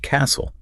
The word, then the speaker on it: castle: But what about a word like castle?